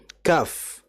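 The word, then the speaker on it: كاف: Contoh, kaf. Kaf itu kan berarti huruf kaf, alif, fa. Berarti ada fa-nya. Kita harus jelaskan. Kaf. Ada f-nya.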